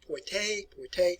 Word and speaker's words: Poitiers: All right, I'm going to pronounce these for you. It's called Crécy. Well, in 1356, we have Poitiers.